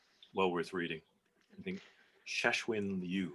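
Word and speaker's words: Cixin Liu: worth reading i think cheshwin you i believe is how you say his name c-i-x-i-n-l-i-u i'm going to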